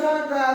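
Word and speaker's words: ثاء: সা জিহ্বার আগা হতে নরম ভাবে আদায় হবে।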